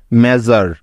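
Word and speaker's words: measure: সুতরাং MEA মে এবং SURE জার একসাথে যোগ করলে হয়ে যাবে মেজার।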